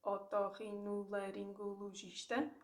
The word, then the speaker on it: otorrinolaringologista: Now, if you know that, if you break it down into syllables, otorrinolaringologista, you say it in a robotic way, and then take the